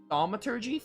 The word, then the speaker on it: thaumaturgy: This is an example of the church's famous thaumaturgy? Thaumaturgy. So like signaturgy with thauma instead of signa.